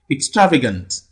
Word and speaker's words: extravagant: the rules is that when the word ends with a n t you count three syllables from the right and the primary stress force on the third syllable if you look at